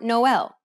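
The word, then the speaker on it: Noël: impact the letters directly the diarise signifies that one should pronounce the vowel separately from the preceding vowel that is to say that you should not combine the two vowels together instead you should pronounce them in separate syllables this can be seen in words like naive or noel listen to the example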